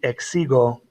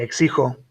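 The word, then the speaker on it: México: a hard g so if you leave this guy as a g it would be x sigel and that's not how you say the word you say exico and so in order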